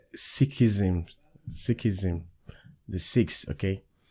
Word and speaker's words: Sikhism: guys i've just confirmed it's called six so it's sikhism sikhism the sixth okay